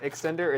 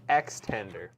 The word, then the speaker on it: Extender: It's actually not X. It's not extender. It's extender. Like a chicken tender, you know?